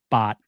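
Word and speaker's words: 八: In Cantonese, 8 is pronounced bot, and it's very similar to the word like rich and wealthy, fat.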